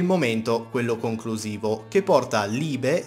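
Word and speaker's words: Liebe: e decine di volte, vi dico che Libe è la pronuncia corretta, grazie a chi me l'ha fatto notare fino ad ora.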